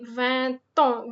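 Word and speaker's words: vingt ans: J'ai 20 ans. V-I-N-G-T ends with T, so we are pronouncing the T and A together.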